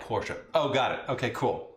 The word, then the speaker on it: Porsche: In Germany, the last letter E is always said. So like the Americans say Porsche, like Porsche, it actually, oh, it's wrong. It's like Porsche.